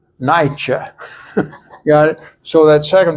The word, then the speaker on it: Nietzsche: Like the theologian Niebuhr, you pronounce it not Niebuhr, you pronounce it Niebuhr. And so Nietzsche, not Nietzsche.